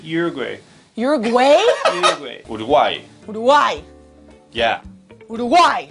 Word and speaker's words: Uruguay: Martina Musso says, as an Uruguayan, the way you say Uruguay made me cringe.